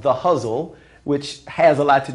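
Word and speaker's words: Ghazal: What it is it's a form called the Huzzle, which has a lot to do with why I chose it as a title. Huzzle is spelled G-H-A-Z-A-L, and it's actually our oldest form.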